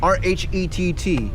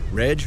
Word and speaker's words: Rhett: I mean, And I used to hate my name, too, because it's like Rhett, like everybody would mess up my name. Like, Reg.